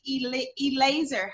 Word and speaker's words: Eleazer: But today we have Eleazer. How do you say that? Shad Laser, yes. Eleazer.